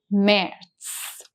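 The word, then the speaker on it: März: Now if you take a look at merits, we have the umlout here. So the sound of a which makes it mers.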